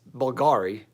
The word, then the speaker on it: Bulgari: pet peeve of mine I spell it like it with a Latin you its Bulgari its with you not a V its typography to make it look like a V but it's actually a Latin you anyway I suppose